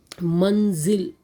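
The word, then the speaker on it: मंज़िल: Manzil, below ja dot is there, so the pronunciation is za.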